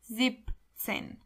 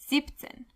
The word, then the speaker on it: siebzehn: Because seven is not sieben, but only the first half. So, it's zipzehn. siebzehn achtzehn achtzehn neunzehn neunzehn 20 is zwanzig.